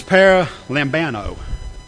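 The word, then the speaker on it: παραλαμβάνω: This word is, now if I pronounce this right, it's paralambano. It's P-A-R-A-L-A-M-B-A-N-O.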